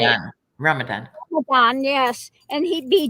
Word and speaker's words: Ramadan: He'd be out there drinking during Ramadan, or what is it, Raman? How do you say it? Ramadan.